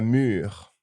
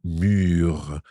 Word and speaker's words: mûre: get mixed up with le mur, which is the wall. The wall. It doesn't have an accent or an E, but it's pronounced the same. Très bien, très bien.